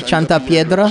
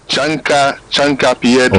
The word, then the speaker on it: chanca piedra: You give me a name there, Chanta Piedra? Chanta Piedra. Oh, that's what is that? Chanta Piedra. Is that Latin or Spanish? Guenabasa. Chanta. I think it's Spanish. Chanta Piedra. Chanca Piedra. Oh, Chanca.